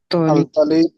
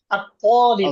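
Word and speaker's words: الطالبُ: আল তালিবু feel হ্যাঁ, উচ্চারণটা ঠিক করে করতে হবে। আত-তালিবু, আল তালিবু। উচ্চারণটা আত-তালিবু, ওই যে আল তয়ের পরে আলিফ তালিবু আছে না?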